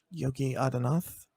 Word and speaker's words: Yogi Adityanath: How do you pronounce this guy's name? Yogi Adityanath.